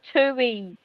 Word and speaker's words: Tui: And Tui rhymes with cooey.